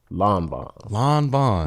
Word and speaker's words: Lanvin: Is it Lanvin or Lanvin? Lanvin. Yeah, With an IN. Yeah, it's crazy. It's some French shit, you know. Lanvin. Everybody say it different.